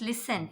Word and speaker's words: listen: Now next, listen. In listen also see S and T together.